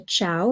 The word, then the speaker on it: ciao: are Chow okay so the Chow is a soft C because you got the c i okay c i AO Chow d d okay because